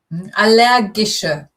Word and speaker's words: allergische: Allergische. Ich habe eine allergische Reaktion. So it's a hard G.